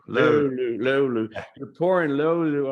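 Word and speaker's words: löyly: Lulu, Lulu.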